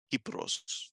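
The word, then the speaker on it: Κύπρος: So it's Kuporose, Kypros in the ancient pronunciation.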